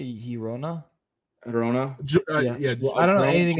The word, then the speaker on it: Girona: Girona.